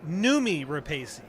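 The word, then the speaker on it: Noomi Rapace: Ro Remy uh let me see excuse me numi repesi that's how you say her name uh she's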